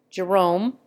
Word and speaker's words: Jerome: Jerome is accented on the first syllable. In America, it is always accented on the second.